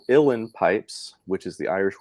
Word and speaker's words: uilleann: Well, there were the uilleann pipes. Is that how you pronounced it? Uilleann, kind of like Illinois.